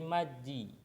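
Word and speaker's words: 맞이: Sehingga maddi ini berubah menjadi maji. Ini berubah menjadi jiet karena ketemu sama i. Terus sesuai dengan peraturan pelafalan sebelumnya, kalau mau dibaca ininya harus pindah dulu, jadi dibacanya maji.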